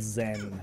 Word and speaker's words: Xen: percent clear but it's a place called Zam spelt with an ex Xen and in the years